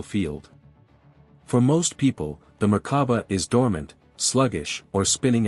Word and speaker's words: Merkaba: This is the Merkaba, pronounced Merkaba.